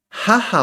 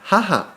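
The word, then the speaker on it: はは: Pero ¿por qué se escribe H-A? Segundo idioma de Japón es el inglés. En inglés, ha se pronuncia o se escribe con H-A. Por eso es jaja.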